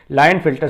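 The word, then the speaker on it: Klinefelter: के से शुरू है लेकिन के इसमें साइलेंट है, लाइन फिल्टर सिंड्रोम कहा जाता है।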